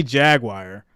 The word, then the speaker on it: Jaguar: So when we say Jaguar, it sounds like the word jag and then the word wire. So whenever I say that, I always get picked on. They're like, Jaguar. Like it's supposed to just flow out.